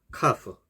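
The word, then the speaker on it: كاف: 카프, 경쾌한 키역 발음.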